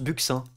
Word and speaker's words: buccin: des côtes de l'Atlantique buccins voilà ça se prononce bucin aussi bien nos déplace